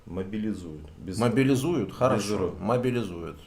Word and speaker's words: мобилизуют: Под каждым роликом везде насыпают, что мобилизируют, неправильно говорить. А как? Мобилизуют.